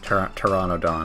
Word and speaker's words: Pteranodon: Oh, no, that's a P. Pteranodon. I don't know why they pronounce the P. Everyone knows the P is silent. Anyway, she says it's a pterodon. Pteranodon, I think.